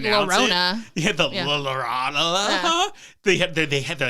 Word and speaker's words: La Llorona: to do exactly what they did for the La Llorona movie, where they actually brought in a narrator to say the title of the movie?